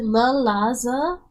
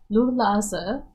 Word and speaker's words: Lulaza: So it's not la, it's Lu. Lulaza.